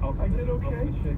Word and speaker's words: Oxfordshire: And is it Oxfordshire? How do you say that? You got that right, yeah. Oxfordshire, yeah.